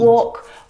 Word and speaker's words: walk: other English words that have a silent letter L in them. Words like salmon, Salmon. not salmon. Salmon, not salmon. Half, Half. not half. Half. Half. Would, Would. talk, مش would. walk. All of Talk, these words have a walk. silent L in them, which makes them a little bit tricky to pronounce correctly.